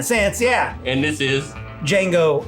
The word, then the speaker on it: Django: Django Unchained. The D is silent.